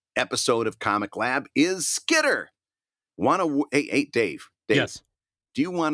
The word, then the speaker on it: Skitter: Because I tell you what, there's aspects of your Michiganisms that come out, and I think there was a little bit of a hard T there where I would pronounce it Skitter.